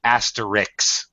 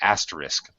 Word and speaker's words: asterisk: native speakers do Oh 99% of native speakers say it the way you did asterix but it's actually asterisk okay very good it